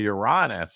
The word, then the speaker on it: Uranus: the 19inch TV and it would say the solar system contains Uranus everybody in the class of course because would say it right we were supposed to say youranus uhuh okay funny teacher